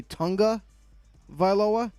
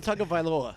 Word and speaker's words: Tagovailoa: because some people say Tunga Vailoa. Some people say Tagovailoa. Some people say Tagovailoa. So what is really the right pronunciation? Because I'm so confused. It's Tua Tagovailoa.